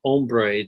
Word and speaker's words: hombre: they would like on hombre they didn't write the H Age om BRE for man and they would write om BRE because the H is silent and so they did